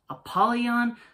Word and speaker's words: Apollyon: fallen angel now once again this is correctly pronounced apollyon slash a pad on folks I've never heard